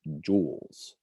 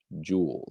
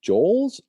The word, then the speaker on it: joules: measure heat in joules this is pronounced joules so try saying that to yourself just like a necklace this is pronounced joules so if you come to this in class be like uh joel's no joules so okay